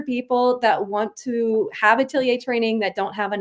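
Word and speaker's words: atelier: So, itilier is spelled a te l i e r. It's just the French word for studio.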